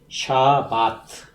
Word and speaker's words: 샤바트: 샤밧. 이게 발음이다. 샤바트.